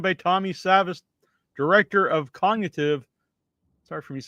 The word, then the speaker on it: Cogn-AI-tive: the word and then so it's cogn AIV but it's cognitive.